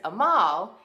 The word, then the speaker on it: Amal: He says, my name is Amal, and it's spelled like anal, A-N-A-L, but you take the N out and you put in an M.